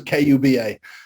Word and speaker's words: Kuba: Please don't make the mistake of putting C in. I think a lot of people still put the C, Right. but yeah, it's K. It's just like Cuba, but spelled with a K.